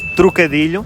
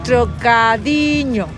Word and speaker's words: trocadilho: The word trocadilho has another one of the most difficult sounds in Portuguese: the sound /ʎ/, which is represented by the letters L and H. The first difficulty is to understand what LH means, and again, common mistakes